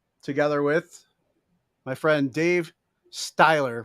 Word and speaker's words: Stiehler: with my friend dave styler right is that the right way to pronounce his last name steeler steeler it is like steeler like like pittsburgh all right just spelled differently all right well how